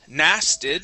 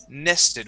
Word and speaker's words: nested: nested okay and making making sure that we pronounce that e sound instead of n nasted it is n nested with a short e nested nested very very